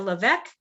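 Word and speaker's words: LeVeque: where we stay in the hotel levesque did i say that correct correctly yes yes the hotel leveck and then we on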